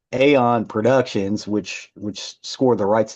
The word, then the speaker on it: Eon: Aeon spelled E-O-N. You would think it was Eon, but it's not. It's pronounced Aeon.